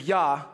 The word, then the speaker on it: Yah: praise the lord and the portion of the word for lord is is yah so we pronounce the j as a y and yah is seen